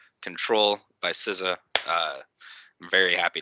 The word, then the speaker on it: Ctrl: the normal version uh it's spelled ctrl control by sizza uh very